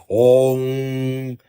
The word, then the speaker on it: Om: Nada de A1. Esse mantra 1 tá errado. Tá errado. A1 é como se escreve. Se lê Om, Om, Om. Tem que alongar.